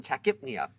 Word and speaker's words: tachypnea: Of course, the P may or may not be pronounced depending on the word, as in tachypnea.